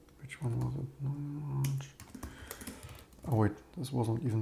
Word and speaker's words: Loong: I need to get used to pronouncing long.